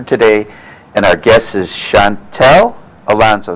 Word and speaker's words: Shantal: and our guess is Chantal Alonso did I pronounce it correctly Chantal Chantal okay well I'll read your